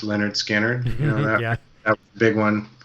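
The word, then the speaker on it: Lynyrd Skynyrd: fan and like uh it's pronounced Leonard skinnard you know that big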